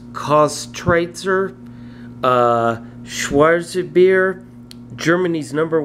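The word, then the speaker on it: Köstritzer: I butcher this name I believe it's pronounced cost Tracer uh schwarzer beer Germany's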